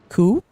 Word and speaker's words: coup: it would it's cuz it's spelled like soup so read as coup coup a coup soup coup here it's French is aou is a is a French word isn't it so the